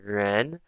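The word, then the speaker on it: 人: Like this is a downward arrow, so this pronunciation tone is like ren. So you go up when you say it.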